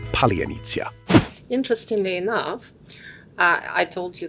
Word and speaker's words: Palianytsia: Palianytsia is one of Ukraine's oldest symbols of home and hospitality.